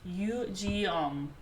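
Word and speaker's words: Yugyeom: Apparently, it's pronounced Yujeom. Yujeom. Yujeom. The way that the lady on Google says it sounded like she was saying Yu-Gi-Oh. So it's like, but Yujeom.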